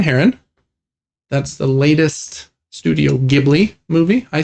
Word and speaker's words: Ghibli: That's the latest Studio Ghibli movie. I say Ghibli. You're going to get roasted in the comments. I know. I think it is officially Ghibli.